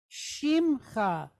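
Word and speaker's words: שִׁמְךָ: No, because this, what you would think would be a e here, this vocal shva, is actually a silent shva because we're following this I type vowel. So this makes a she, and then we have a mem, and it's telling us here, just close a syllable, shim. All right, and then we're just going to pronounce cha.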